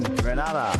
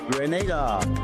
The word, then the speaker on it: Grenada: So, today, like we Germans say we are in Grenada. But, I heard in English it's called Grenada. Say it right. Grenada. Say it right. Grenada. That's right. Grenada. There we go. Say it right. It's Grenada. It's not Grenada.